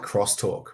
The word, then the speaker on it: X-Talk: Talking about I like crosstalk, right? Still spell it X Talk, but call it crosstalk, because I think that's a little bit more explanatory.